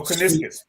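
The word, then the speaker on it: Kuniskis: The how do you pronounce the new guy's last name? Konsikis, that just was reassigned to the Ram. Oh, Kniskus.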